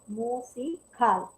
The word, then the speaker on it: musical: Ahora, la palabra musical, si pronunciamos esta palabra es una palabra aguda, no musical, porque aquí este aquí es la mayor fuerza de voz.